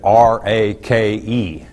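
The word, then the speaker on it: ריק: a Hebrew word that's translated RA ke pronounced rake that's real difficult isn't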